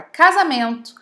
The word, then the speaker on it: casamento: Também passa pelo mesmo caso a palavra casamento, a palavra crise, a palavra pesquisa e a palavra visita, entre milhares de outras.